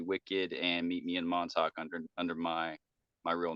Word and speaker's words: Montauk: me in Montauk I think that's how you pronounce Montauk yeah that's right yes a little tricky there